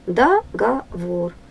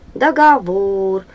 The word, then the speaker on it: договор: ударение на третий слог договор договор ударение на третий слог ту для ударение на